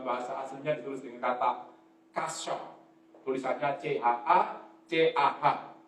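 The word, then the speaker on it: חסה: Kata berlindung itu dalam bahasa aslinya ditulis dengan kata kasya, tulisannya C-H-A-C-A-H, bacanya kasya.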